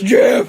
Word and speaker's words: GIF: It's pronounced GIF, but yeah, sure. No, it's GIF!